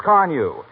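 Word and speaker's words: Carnu: Give it the extra care it needs with Johnson's Carnew.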